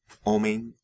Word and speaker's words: homem: the spelling change, right, in Brazilian Portuguese, M and N are not really pronounced like their English counterparts in these kinds of cases, right, syllable final. Rather, what they do is they indicate that the preceding vowel is nasalized.